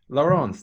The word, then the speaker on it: Laurence: Laurence, that's how you pronounce it, isn't it? Yes, that's it. Yep. Okay, thanks for joining us, Laurence.